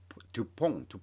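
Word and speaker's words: DuPont: 두퐁가라는 게 그렇게 어떤 경우에는 폰으로 발음되기도 합니다만 일반적으로 두퐁 이렇게 얘기를 하더라고요.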